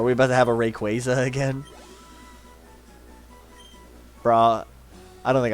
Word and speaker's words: Rayquaza: Are we about to have a Rayquaza again? Bruh, I don't think I'll ever start calling it Rayquaza. Yeah. It's Rayquaza.